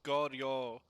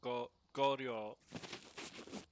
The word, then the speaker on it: Goryo: It's Goryo. They are vengeful Japanese ghosts from the aristocratic classes, especially those that have been martyred. It's a long O on the end.